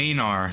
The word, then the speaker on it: Einar: Einar, that's how they say it.